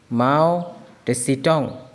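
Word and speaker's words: Mao Tse-tung: माओ टेसिटोंग. ठीक है, माओ इसका स्पेलिंग में बोल देता हूँ MAO माओ, TSE टेसी, टंग TUNG टंग.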